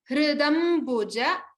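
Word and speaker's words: हृदम्बुज: Try to pronounce the hr similar to the rikara and dr. Dr and hr. So the same rikara. It is not hri or hru. It is hridam buja. Ba has to be stressed upon.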